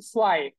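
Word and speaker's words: zwei: এখন দেখেন এই যে জেটের যে উচ্চারণ সেটা হয়ে গেছে সোয়াই, সোয়াই।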